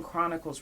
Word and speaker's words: Chronicles: Y'all forgot the H is silent.